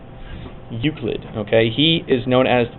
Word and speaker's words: Euclid: Okay, and that is pronounced Euclid. Euclid.